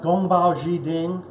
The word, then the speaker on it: Gong Bao Ji Ding: of this dish is compiled chicken it is pronounced Gong Bao Zhi Jing and it is a very simple dish and